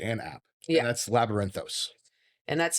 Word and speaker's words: Labyrinthos: And that's Labyrinthos. And that's spelled Labyrinthos.